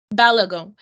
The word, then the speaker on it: Balogun: do you say your last name sorry balag balagon yes um hakee holds a bachelor's degree in